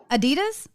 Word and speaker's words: Adidas: It's Adidas.